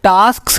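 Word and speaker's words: tasks: And break large टास्क into smaller, यहाँ पे टास्क्स है, हाँ टास्क्स, थोड़ा सा इसका प्रोनाउंसिएशन थोड़ा दिक्कत होती है। टास्क्स है, हाँ लास्ट में भी एस का साउंड आएगा मगर हल्का सा आएगा।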